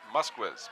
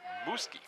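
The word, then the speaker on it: Muzquiz: It might be pronounced Musquiz, but in fact it is Muski.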